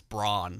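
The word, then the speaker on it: Brann: It's Braun. Braun. Pronounce it right. Sorry, Braun. Yeah. So, Braun. Pronounce him like he's cereal or something.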